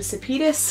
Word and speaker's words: Sepetys: First up is Between Shades of Grey by Ruta Sepetys. Complete side note, the way I remember how to say her name is that it sounds like Zetas Lapidus.